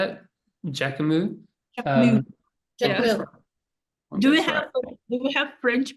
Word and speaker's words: Jacquemus: Jacquemus. Jacquemus. Do we have French people here? That'll make it work. Say it out loud. Say it out loud. I will try to repeat it after you. Jacquemus.